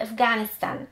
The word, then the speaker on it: Afghanistan: Jako g czytamy w takich słowach jak na przykład Afghanistan. Nie czytamy g, h, w